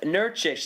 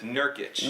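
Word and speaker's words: Nurkić: the NBA this year Yousef nurkish did I pronounce that right Yusuf nurkic nurkic excuse me Yousef nurkic you thought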